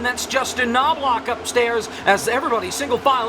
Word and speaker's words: Knobloch: Massive checkup, and I have to say it's ironic that Justin Knobloch is the number 1 K, but the K in his last name is silent.